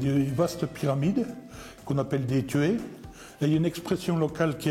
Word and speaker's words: tuyé: pas ailleurs cette vaste pyramide qu'on appelle des tués là une expression locale qu est assez symptomatique on dit souvent tu es ça s'écrit t u et sous tués est ce